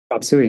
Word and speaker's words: Chop Suey: Is it Chop Suey? Is that how you pronounce it? Chop Suey, that's right.